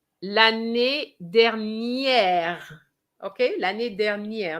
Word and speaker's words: dernière: Okay, l'année dernière, not dernier.